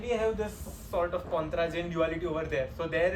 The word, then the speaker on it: Pontryagin: I had written the pronunciation. It's called Pontryagin duality.